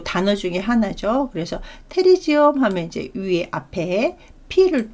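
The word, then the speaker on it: pterygium: 네, 테리지엄. 이 피는 묵음이죠. 그래서 테리지엄 같은 경우는 여기 나와 있다시피 이렇게, 예, 우리 학생들이 보기에도 얘가 날개처럼 보이나요?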